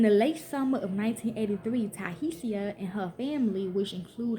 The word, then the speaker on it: Tiahease: when another resident of the motel asked Tiahease, pronounced Tiahease, to go to a local market to give them a pack of chicken wings.